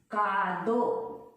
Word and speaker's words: カード: The same rule also apply in katakana, but there we just put a hyphen like kado. Only this hyphen. You no need to write a. Takushi. Supa. Like, okay?